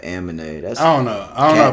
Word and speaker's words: Amine: Like you got what, Kamala, Amine? Why she do that? Why he do that? Amine. It's supposed to be like anime, but Amine.